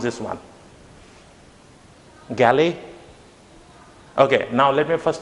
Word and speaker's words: Galle: And the pronunciation of this term is not galley, but it's gall. Okay, it's like the sound in a ball. You would say like gall, ball.